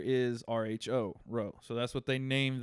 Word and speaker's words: Rho: little bit of reading here how do you pronounce the name on that it's rho that row row I mean it's that seems